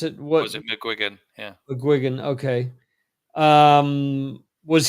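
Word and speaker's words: McGuigan: uh Paul Googy yeah muan yeah how you pronounce it what was it mcgan yeah mcgan okay um was he with the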